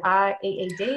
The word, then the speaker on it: Reed: Is it R-E-E-D or R-E-A-D? Yeah, so Reed, okay, like read reading a book.